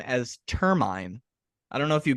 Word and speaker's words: Termine: end so termin uh is uh so we termin is the pronunciation angelized American pronunciation we use well there